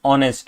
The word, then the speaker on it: honest: case is going to be he is an honest okay because uh because you know although the word is H but the pronunciation is honest which is O right so yeah this is